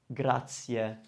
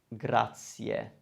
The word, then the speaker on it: grazie: word is really useful it's common to misprint to hear it mispronounced from non-italian speakers so let's work on it it means thank you and the word is grazia grazia so we have three vowels which we want to hear now like i said the